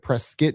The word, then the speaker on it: Prescott: So I get Prescott, I get Preskit because that's how they pronounce the city in Arizona.